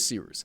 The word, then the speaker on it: Cyrus: My name is Seeroos. It's spelled like Cyrus, pronounced like Sea Rooster. Just take out the tur.